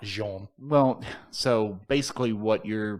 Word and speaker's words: Jean: john lanfray you know it's like one of those french names it really says gene right it's pronounced jean well so basically what